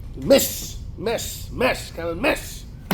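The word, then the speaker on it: Metz: I was want to to sh somewh I pronounced the city as Mets some was there from France he starts laughing you not M mess mess mess kind of mess is not M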